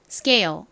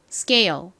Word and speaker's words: scale: 소리가 합쳐지니까 요렇게 되죠 scale 그런데이 단어도 square처럼의 뒤에 키읔 소리가 바로이어서 나오죠이 경우 키읔 소리는 거의 된 소리처럼 쌍 기역에 가깝게 발음이 됩니다 그래서 한국식으로는 스케일이라고 하지만 미국식 발음으로는 된 소리로 scale scale 이렇게 발음이 됩니다이 단어